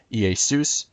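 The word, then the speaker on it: Ἰησοῦς: in english characters but the greek word e soos and the name zeus in greek zeff's completely different this is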